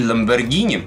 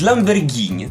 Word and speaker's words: Lamborghini: Всё мы её отправили Давайте продолжать веселиться коктейль Lamborghini кстати правильно говорить именно Lamborghini Но если вы будете говорить единственный недостаток первого коктейля Ferrari в том что косточки я черенки застр между зубами так вот правильно говорить Lamborghini Но если вы будете произносить Lamborghini вас никто